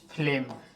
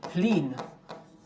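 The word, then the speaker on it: Flynn: 1984 में एक व्यक्ति हुए जेम्स फ्लेम कह रहे हैं, जेम्स फ्लिन, इस तरीके से उनका स्पेलिंग है, जेम्स फ्लिन एक व्यक्ति हुए।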